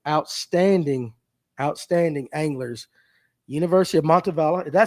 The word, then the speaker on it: Montevallo: University of Montavala. Did I say that right? Is it Montavala Bella Bola? How do you say it? Monavalo.